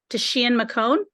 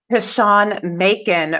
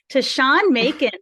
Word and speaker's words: Tashawn Macon: executive coach and consultant Tashian McCone. Did I pronounce that correctly? Tashawn Macon rhymes with bacon. Tashawn Macon rhymes with bacon.